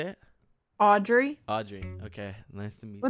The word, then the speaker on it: Audrey: Audrey.